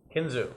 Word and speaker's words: Kinzua: the mountains and I'd love to go see Kinzua yeah ksua there's a bridge I guess by the dam what what do you say kinu okay kinu okay kinu so I'm going to